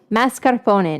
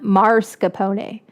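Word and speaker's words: mascarpone: Everybody say it with me now. Mascarpon. Not marapon. Mascarpon. Mas.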